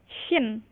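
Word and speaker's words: ش: Kalau yang ini sinin, yang ini syin. Jadi berbeda ya, Bu ya. Karena seringki tertukar. Seringki masih tertukar Ibu ya. Yang seharusnya ini dibacanya sya jadi sa Ibu ya. Padahal seharusnya sya karena makhrajnya pun berbeda, Ibu ya.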